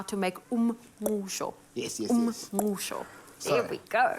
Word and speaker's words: Umngqusho: How do you pronounce samp and beans? Umngqusho.